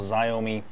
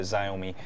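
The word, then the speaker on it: Xiaomi: say a XI but I think it's I don't know there's a different way bunch of different ways to pronounce the company's name and also the wrom way but I'm going to just call it zomi uh I think that's how it should be uh pronounced uh based on its spelling um also my UI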